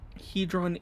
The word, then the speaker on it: Hedron: report is coming soon hedron is the correct pronunciation I was saying right